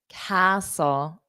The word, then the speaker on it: castle: yes George got it castle castle very nice so you don't hear those t's so whistle s so you just imagine the T's not there so it goes